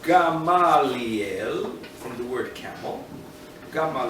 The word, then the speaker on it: Gamaliel: so let's go back so comes along rough Gamliel Robin garlic correctly pronounced Gamaliel from the word kappa gamma dl it's relevant